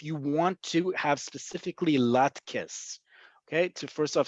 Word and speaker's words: latkes: Okay, so if you want specifically potato pancakes, the Ashkenazi tradition, latkes. Okay, that's how you're going to pronounce it. Emphasis on the last syllable, latkes. Or levivot tapuchei adama. We'll get to that in a second. But definitely not latex.